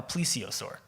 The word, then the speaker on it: plesiosaur: wrote it down how it's supposed to be pronounced cuz I couldn't read that a plesiosaur okay or yes that's right please save us